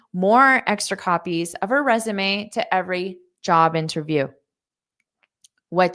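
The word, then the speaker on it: résumé: extra copies of her resume to every job interview. What do you think? A, B, C, or D? And notice that pronunciation of resume. Resume. We borrow this word from French pronunciation, resume, resume.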